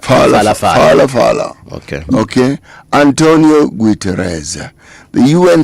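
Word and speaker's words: Phalaphala: Falafala is spelled P-H-A-L-A-P-H-A-L-A. So it's Palapala, but Falafala.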